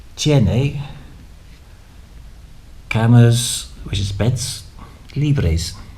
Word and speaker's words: libres: So when you arrive, you can say, tiene camas, which is beds, libres. Don't forget, pronounce all the letters and roll the R's.